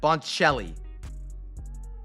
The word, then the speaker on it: Boncelli: The C is a CH sound. Sandro Boncelli.